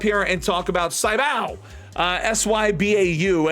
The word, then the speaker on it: Sybau: S-Y-B-A-U. I'm pretty sure you pronounce this as Sybau.